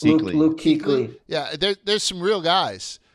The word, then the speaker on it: Kuechly: How do you pronounce it? Luke Kuechly.